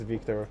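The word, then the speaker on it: Wiktor: the situation no no it's always a v sound it's always a v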